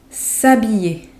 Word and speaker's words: s'habiller: S'habiller. S'habiller. And you probably already know that the H in French is not pronounced. S'habiller.